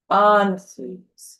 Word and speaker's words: Ansuz: Put the emphasis on the first syllable. Ansuz.